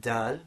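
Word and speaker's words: د: Okay, then we have dal, which is very easy, so English D, words like dad.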